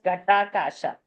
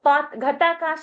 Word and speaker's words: Ghatakasha: trying to read, and I think that was mispronounced. One of the word was Ghatakasha. It is in 135. So Ghatakash is pot space in 135. Ghatakash, Ghat ka Akash, Ghat mein jo Akash hai.